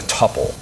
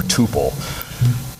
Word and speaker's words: tuple: is to store things in a tupple or Tuple not sure what pronunciation you like I I'll stick with tupple um basically TPP just